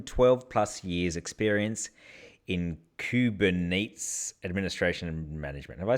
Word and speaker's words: Kubernetes: with a minimum 12 plus years experience in kuben Nate's administration and management have I said that right sir so you pronounced kubernetes kubernetes all that all the programmer listeners just went